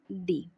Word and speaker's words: the: जैसे ये टी एच ई काउ, अब ये कॉन्सोनेंट साउंड है इसलिए हम इसका प्रोनाउंसिएशन करेंगे द, और ये एलिफेंट लिखा हुआ है इसका साउंड वोवल है इसलिए हम इसको प्रोनाउंस क्या करेंगे, दी एलिफेंट। इस तरह से द डॉक्टर, द इंजीनियर।